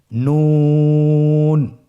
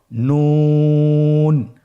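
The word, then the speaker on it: نون: নুন হরফটি উচ্চারণের ক্ষেত্রে অবশ্যই পাতলা করে উচ্চারণ করতে হবে এবং তিন আলিফ টেনে পড়তে হবে। আপনারা আমার সাথে বলুন নুন। আরেকবার চেষ্টা করুন নুন।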